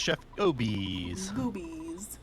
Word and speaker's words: ChefGobes: will be pretty close it'll be interesting it's pronounced Chef obese that's like I have a I mean my